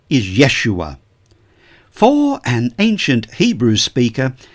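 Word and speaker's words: ישוע: shall name him Jesus our English pronunciation of the name Jesus comes to us through the Greek the language of the New Testament the name in Greek is yeus the name in Hebrew is Yeshua it was a common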